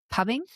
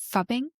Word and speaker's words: phubbing: I don't even know if that's how you actually Is it pubbing? Fubbing? No, it's ph, so it' be f fubbing.